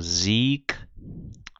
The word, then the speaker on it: Sieg: Então, G em final de palavra ou final de sílaba, a gente lê como se fosse um K, né? Então, eu leio aqui mag, aqui eu leio Sieg, aqui eu leio Betrag.